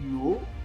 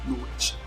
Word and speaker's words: Knowage: Je vous donne l'orthographe juste. C'est Knowedge. Bon, mon anglais n'est pas très bon, mais je crois que c'est ça la prononciation.